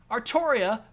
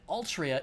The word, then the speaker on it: Artoria: I've seen people suggest that Altria is the correct way to Romanize the katakana for the pronunciation of the name, and that Altria is, in fact, the correct way to spell the name. But I think anyone will agree that actually pronouncing it that way is fucking stupid.